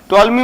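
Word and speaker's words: Ptolemy: और मिस्र का राजा टॉलमी फील अडेल फर्स्ट था मिस्र कि के राजा हाउ to learn E feel ठाट व्हेन फर्स्ट है टॉमी में पीस साइलेंट होता है पीटीओ एलडीएम वाइफ टॉमी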